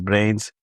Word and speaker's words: BRNZ: He has BRNZ platform pronounced as brains since 2016.